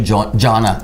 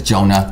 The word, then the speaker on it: Jonah: Before I met you, I called you Jonah, but it's Jonah.